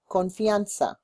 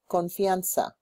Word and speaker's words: confianza: pronounce trust in Spanish confa repeat confa the Z is like an S confa we in good